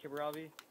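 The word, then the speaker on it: Kiribati: it's it's still like kevarati that's still like kevin robbie or it's pronounced like kibravi and um it's um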